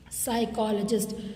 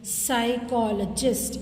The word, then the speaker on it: psychologist: Okay, psychologist, psychologist. Okay, you have to stress the first syllable.